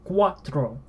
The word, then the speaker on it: cuatro: and O is o so R is not English art please switch this every oh it is rolled the R is rolled it listen to that